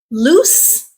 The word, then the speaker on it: loose: remember from that video loose is an adjective and the the letter s in this word does make the S sound okay it rhymes with goose moose all right before we